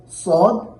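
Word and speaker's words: ص: এখানে হরকত দেওয়া যখন আমরা উচ্চারণ করি সা, স, সা, স, এখানে যেন সিন পাতলা হবে, সদ মোটা হবে।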